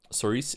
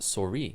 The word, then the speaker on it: souris: Soris is the French word for mouse. It's pronounced souris. Souris.